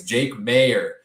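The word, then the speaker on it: Jake Maier: around jake mayer uh we gotta get the pronunciation right there adam if he's starting the rest of the way it's jake mayer um there for that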